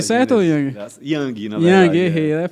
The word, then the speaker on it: Yang: E é ele, o convidado, Ian. Tudo bem contigo? Tudo bom, Pronunciei certo, Yang? Yang, na verdade.